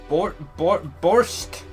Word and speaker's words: borscht: Well, of course, it is my pride to serve borscht. How do I even pronounce that?